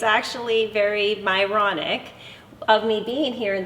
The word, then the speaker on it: Myronuk: this really fun is my last name is literally pronounced moronic just spelled differently okay so I have